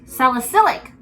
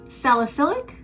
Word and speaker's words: salicylic: do you say it solicit no sally silic salicylic salicylic just excuse my english okay it's my second